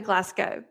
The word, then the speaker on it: Glasgow: I spent more time than I probably should have on how to pronounce Glasgow? Glasgow. It's actually Glasgow.